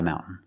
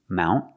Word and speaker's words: mountain: Mountain or you can make a stop t mount. Put the tongue up and stop the air and then fall to the n mountain.